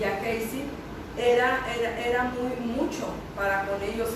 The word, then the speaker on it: Gehazi: Es cuando, como lo comentaba Rocío y Cintia, que manda llamar a Gehazi, se pronuncia Gehazi, perdón, amén.